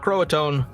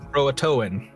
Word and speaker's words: Croatoan: how to pronounce it it's not Croatoan Croatoan there's another there's another letter in there if you had watched